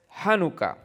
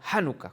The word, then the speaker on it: Janucá: título de la enseñanza es janucá así se dice en español janucá con tilde en la pero en realidad se escribe así como está en inglés es más común inclusive en español se usa así de esa manera como lo está como aparece en la pantalla nuestro texto es tan